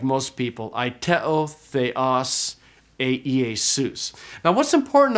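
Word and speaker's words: αἰτέω: And so this word is pronounced aiteo. So originally it would have been something like aiteo, where the pitch would have gone up, but we just say aiteo.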